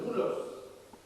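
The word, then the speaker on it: δοῦλος: Y algunas partes de la Biblia, del Nuevo Testamento, también aparece la palabra doulos, escrito doulos, pronuncia doulos, que significa siervo.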